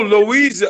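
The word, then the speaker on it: Loíza: is misspelled dispels L o Iza how you pronounce that Oh Louisa Louisa we dead oh that's the part I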